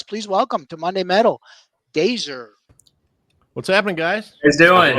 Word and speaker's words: DAZR: The band is pronounced DAZR, as in laser DAZR.